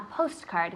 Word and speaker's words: postcard: postcard all together but the t almost sounds silent when you when you say it fast postcard postcard yeah we're not like post card that's not so important that then I don't know the fluidity of it is important postcard postcard the t is very soft all right well if